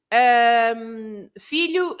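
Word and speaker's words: filhó: Filho has an accent on the O. So you change everything. You shift the stressed syllable to the last syllable, And the O with the accent, it's no longer pronounced as oo sound.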